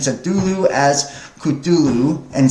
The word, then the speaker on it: Cthulhu: So the U is about like that in lull, and is the first syllable, and not unlike clue and sound. Hence, the H represents the guttural thickness, yielding something akin to whatever.